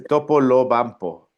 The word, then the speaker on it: Topolobampo: Tal vez, porque hay hay viéndome la eh cuando me puse a porque no podía pronunciar Topoloba bampo. Me dice, Topolobampo, es Sí.